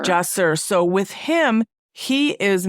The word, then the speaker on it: Jahsir: And so that happens to you with this is your 4th child, and pronounce his name for me. His name is Jahsir. Jahsir.